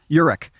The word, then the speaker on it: Urich: Urich.